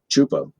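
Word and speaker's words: Csupo: Is it Zupo? Chupo. Chupo. Okay.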